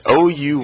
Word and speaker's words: Ouya: It's pronounced fail. I don't know. It's Ouya.